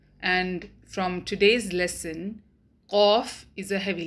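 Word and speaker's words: قاف: When the deepest part of the tongue touches the soft palate of the mouth, then qaf is pronounced.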